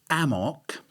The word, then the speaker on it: AMOC: my cerebell mate but apparently amok spelled with a c uh stands for yeah